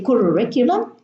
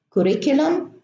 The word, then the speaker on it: curriculum: should be germinated so some students would say curriculum correct convection current corruption and no germination in these words they should be pronounced with a plane or curriculum correct Gretchen corrupt corruption now here I have